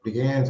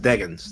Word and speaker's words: Deggans: Joining me on the program tonight is Eric Deggans. Eric Deggans, welcome to the program, and thank you for coming on the program. Sure. Thanks for having me. It's pronounced Deggans, though.